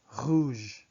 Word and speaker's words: rouge: The VIN is not vin. It's vin. Un vin rouge. Rouge has a long O sound.